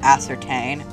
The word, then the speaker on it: ascertain: assert in your readiness i think it's pronounced ascertain yes your honor hands